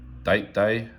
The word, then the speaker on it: Date Day: linen dial oyster prince date day so it's pronounced opposite the rolex instead of a day it's a date day uh this was later